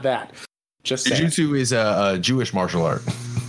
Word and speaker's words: jujutsu: Actually, he's pronouncing that wrong because the way he spelled it is jujutsu. Jujutsu. Well, jujitsu is spelled with it's two words, and it's jitsu is JITSU, but whatever.